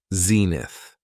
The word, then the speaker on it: zenith: next noun is Zenith it has two syllables and the stress is on the first syllable Zenith when talking about the